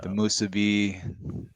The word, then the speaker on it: musubi: musubi. Oh man. You just got 1,000 points right there. Thank you for saying that because people say musubi. You said it right.